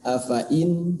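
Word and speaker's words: أفإين: Nah, ini cara teorinya ini ada tulisan afa'in ya, afa'in ini fa-nya ada alifnya. Biasanya kan kalau ada alifnya itu biasanya mad ya, sehingga dibaca afa. Nah, padahal ini dibacanya afa'in ya, jadi tidak dimadkan. Nah, secara teorinya ini tulisannya hati-hati fa-nya dibaca pendek.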